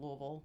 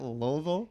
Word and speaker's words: Louisville: Louisville. You're supposed to say it like you have rocks in your mouth.